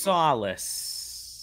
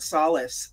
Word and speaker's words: Solis: I want to hear you pronounce what you think the title of Fort this game is. Solis.